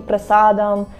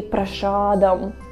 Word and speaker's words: prasadam: we're like Americanizing it, instead of saying prasadam, we say prashadam, prashadam, because that's how Americans say.